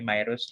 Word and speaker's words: Mirus: Pero yan, ang tama kong pag-pronounce ng pangalan ko ay Mirus, 20 years old na po ako.